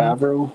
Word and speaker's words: Favreau: Favreau?